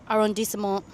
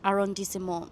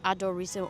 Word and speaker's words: arrondissement: Although I have it confirmed by my Parisian friend that I do indeed pronounce arrondissement fine. Like, that's it. So I just have to remember that it's arrondissement, not adorissement or whatever.